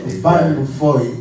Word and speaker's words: Vanfoy: je le prononce en flamand, Van Foy, c'est Van Foy, hein?